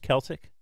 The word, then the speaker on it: Celtic: not coming here a traditional Celtic band probably Celtic is it Celtic y that's what it is it's written Celtic pronounced Celtic okay um I don't have the Irish lineage